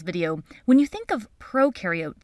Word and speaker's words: prokaryote: when you think of prokaryote think of pro rhyming with no no nucleus no membrane-bound